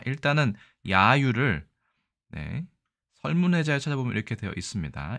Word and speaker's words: 揶揄: 자, 이 글자는 우리가 야유라고 읽습니다. 야가 장음이네요. 그러니까 야유 이렇게 읽으면 될 것 같습니다.